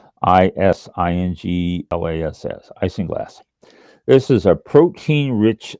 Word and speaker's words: isinglass: Isinglass. Isinglass.